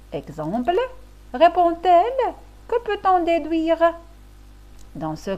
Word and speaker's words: répond-elle: ou un D, exemple, répond-elle? Que peut-on déduire? Dans ce cas, il n'y a pas lieu d'ajouter un T et le D se prononce T, comme dans l'exemple répond-elle?